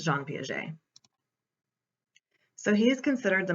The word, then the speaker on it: Piaget: piaget or john piaget his name is french obviously so the correct way to say it is jean piaget i've heard people say g and p aguette um all kinds of different things